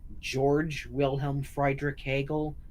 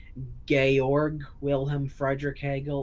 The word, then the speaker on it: Georg Wilhelm Friedrich Hegel: People say his name is George Wilhelm Friedrich Hegel, except properly understood in the way that it's pronounced in German, his name should actually be called Georg Wilhelm Friedrich Hegel or Georg, something like that.